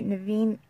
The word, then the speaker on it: Naveen: informed Strasser about rare animals, was played by Naveen Andrews, I believe is how you say his first name.